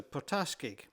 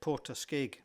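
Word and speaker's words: Port Askaig: The locals tell me that the general emphasis on most of the words is on the later syllables. Hence the Portas is more correct for them whereas I might have said Poraske.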